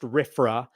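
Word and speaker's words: RFRA: freedom restoration act RF it's uh usually uh pronounced rifra but basically this is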